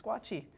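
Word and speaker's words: squatchee: it's called the what a squatchy can you spell that s-q-u-a-t-c-h-e-e oh two e's it's squatchy do you know that that was called that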